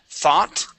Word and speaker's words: thought: Okay, and this word here is thought. The O-U-G-H makes an ah sound. Thought. Thought. Okay, the G is silent. Okay, we do Okay. not pronounce the G.